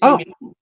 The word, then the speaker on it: Yimiao: Is it Yimiao? Yes. It's Yimiao.